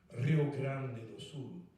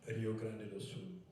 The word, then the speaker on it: Rio Grande: people say, "Oh, you're It's supposed to be pronounced Rio Grande. It's true. It is pronounced Rio Grande, but it's mispronounced Rio Grand, which is what we're doing right now.